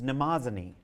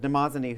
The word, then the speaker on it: Mnemosyne: of memory, whose name in the Greek is Mnemosyne. And Mnemosyne, whose name is spelled with some difficulty, is spelled on the lower part of your handout.